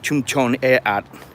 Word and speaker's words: Klongtoey: This is the slum, or Klongtoey in Thai. That's the more proper way to say it in Thai.